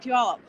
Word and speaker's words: Puyallup: like by the explanation you say pew like it smells and up oh yes there you